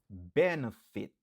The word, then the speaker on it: benefit: Benefit. Benefit. Benefit. Qui signifie bénéfice. Li gen 3 syllabes. Nap accentué sou premier syllabe lan.